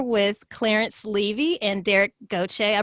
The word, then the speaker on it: Gauthier: clarence levy and derek gautier i pronounced that correctly right derek okay i'm from louisiana so i know how to pronounce these french names and clarence and derek